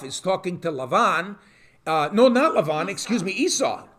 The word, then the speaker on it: Esav: Esau, okay? Esav, actually, in Hebrew.